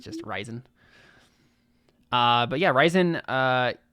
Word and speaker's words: Rizon: yeah it's probably pronounced it's probably pronounced like horizon but without the whole so it's just ryzen uh but yeah ryzen